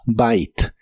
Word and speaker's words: bite: La i se pronuncia como i y la e del final no se pronuncia, así que suena como bite.